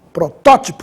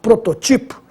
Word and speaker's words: protótipo: porque ela é proparoxítona protótipo sem acento eu teria que ler prototipo e a última súbito